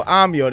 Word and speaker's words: Ahmyo: So Ahmyo, that's how you pronounce it.